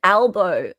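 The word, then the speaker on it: Albo: Hope you your prime minister is No, his name is Elbow. And for you guys, it's probably pronounced elbow, but it's it's a lb o.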